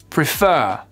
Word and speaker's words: prefer: verbes, vous faites pause, vous prenez le temps de vous entraîner à les accentuer sur la 2e syllabe et vous vérifiez juste après. Refuse, refuse. Prefer, prefer.